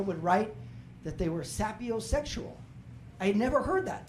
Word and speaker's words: sapiosexual: He's like, Pat, it's not pronounced sapiosexual, right? It's pronounced sapiosexual.